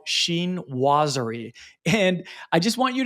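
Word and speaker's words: chinoiserie: and I had to actually Google how to pronounce it Sheen wer that's how from from the YouTube pronunciation video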